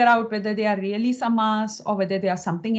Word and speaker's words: samāsa: Samosa by the way it is not samasa okay it is samas and that is another thing we have to learn to pronounce our us to be very short yeah and the as to be long okay so it's V